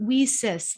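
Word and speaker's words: WiCyS: go by our acronym we sis it's w-i-c-y-s and we pronounce it we sis like we sisters because that's exactly what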